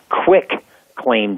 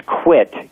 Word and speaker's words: quitclaim: you do that a quitclaim deed people think it's nice and easy they mispronounce it as quick claim deed to UI ck it's a quit queue uit that deed basically says